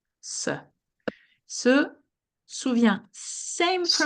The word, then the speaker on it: se souvient: At the very end, that's a T. We cannot hear it, meaning you pronounce Souviens. these three exactly the same.